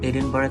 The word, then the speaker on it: Edinburgh: প্রথম পর্বে থাকবে রাজধানী এডিনবার্গ, যদিও আমরা এডিনবার্গ উচ্চারণ করি কিন্তু স্থানীয় লোকজন উচ্চারণ করে এডিনবরা।